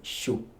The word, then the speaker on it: Xu: I think the guy was called Wei Shu, but the Shu is spelled as XU.